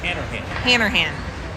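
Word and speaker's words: Hanrahan: Harnahan. Did I say it right? Harnahan? Hannerhan.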